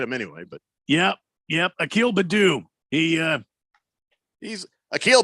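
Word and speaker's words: Akil Baddoo: the ball hit him anyway but yeah yep Akil Badoo he uh he's a kill but oh yeah that's how you pronounce it two balls and a strike on a keel Badu well yeah maybe used to be two balls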